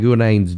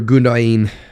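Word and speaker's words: Gündoğan: I would be very worried for Gundogan, or Gundogan, however you want to pronounce it. Gundogan, I think is how we say it in America.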